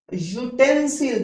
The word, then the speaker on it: utensil: Village chief है started यूटेंसिल। देखिए यू से स्टार्ट है, बट पढ़ा यह जाएगा, ए ई आई ओ यू से स्टार्ट होने पर एन बढ़ते हैं, बट इसका प्रोनाउंसिएशन क्या था, ये, इसलिए मैं ए भरूंगा।